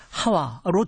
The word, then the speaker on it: 하와: 발음상의 차이거든요 그니까 원래는 원래 그 히브리 원어로 하면은 이보다는 하와가 맞습니다 예 아담과 하와로 되어 있는데 왜 브라는